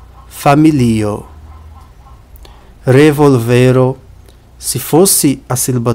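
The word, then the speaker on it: familio: uma diferença de pronúncia em português a gente pronuncia família em esper a gente pronuncia fam percebe a diferença família famí na primeira a vogal tônica é o primeiro i na segunda que é esperant a vogal tônica é no segundo I família familo revolo se fosse a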